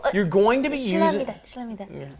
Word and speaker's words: 실례합니다: But what happens is, of course, it just ends up being pronounced 실례, 실례합니다, 실례입니다.